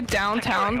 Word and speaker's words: downtown: Yeah, I say downtown, but apparently in the Pittsburgh area, the W's in downtown disappeared or replaced by an ah sound.